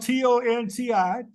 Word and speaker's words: Tonti: One is spelled T-O-N-T-I, Tonti, and Conti, C-O-N-T-I. But they're pronounced differently. Why is that? Well, one was under the Spanish and one was under the French.